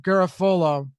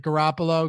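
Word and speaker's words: Garafolo: per me and Mike Garofalo Garofalo I always get his name wrong like Garoppolo Garoppolo New York Giants have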